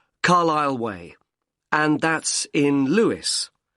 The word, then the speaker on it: Carlisle: and your address 45 carlisle way could you spell carlisle for me sorry it's c a r l i s l e you don't pronounce the s carlisle way and that's in